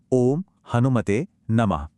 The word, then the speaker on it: ओम हनुमते नमः: इसका उच्चारण है ओम हनुमते नमः।